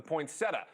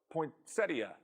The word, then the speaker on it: poinsettia: Next, a claim about a Christmas favorite, the poinsettia, or poinsettia. Look, I'm not verifying the pronunciation. They're actually both recognized in the dictionary.